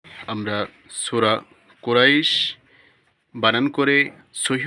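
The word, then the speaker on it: قريش: র ইয়া জবর রই কুরাই শিন দুই জের শিন কুরাইশ এখানে থামলে শিন দুই জের শিন উচ্চারণ হবে না শুধু শিন হরফের উচ্চারণ হবে লিলাফি কুরাইশ হামজা খারা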